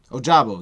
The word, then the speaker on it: Ojabo: Now I don't know how do you pronounce that name that Feardham's saying? David, is it Ojabo? Ojabo, yeah, Ojabo.